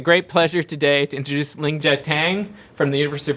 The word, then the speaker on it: Lingjia: So my name is Lingjia. Thanks for the introduction. To make it easier for you guys to pronounce it, it's pronounced as Ninja, but with the Ling, with the L.